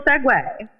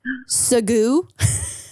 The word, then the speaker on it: segue: you just gave me like the most beautiful segway so fun fact um i didn't know that so i was reading something one time and i saw the word and i i pronounced it as segu so we so we said around here so